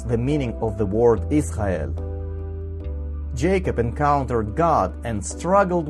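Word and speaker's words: ישראל: The diacritic mark found under the Reish is a Hebrew vowel. It is called kametz and sounds A, like an A in Amen. This is Aleph. Aleph itself is always silent. Even though our Aleph is silent, it bears a diacritic mark or a vowel. The diacritic mark found under the Aleph is called Tzere and should be pronounced E, like an E in they.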